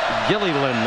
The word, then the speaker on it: Gilliland: Gilliland, that L at the end is pronounced.